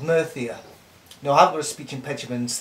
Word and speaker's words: Murcia: part of Spain called murthy er no I was speaking petulance a is spelled mercy ER but they pranced it no Thea so I was in